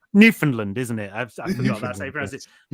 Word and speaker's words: Newfoundland: Oh, sorry, it's Newfoundland, isn't it? I forgot that's how you pronounce it.